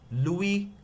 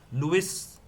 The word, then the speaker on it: Louis: Louis Pasteur. Louis is not how we pronounce it, it's called Louis.